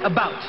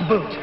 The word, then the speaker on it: about: speak English and French not American and I pronounce it about not AB boot I can proudly sew my country's flag on